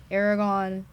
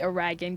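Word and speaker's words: Aragorn: I do enjoy like Aragon and stuff like that I don't think I said that right you said that right yes you usually say it wrong I usually say oragan guys like I know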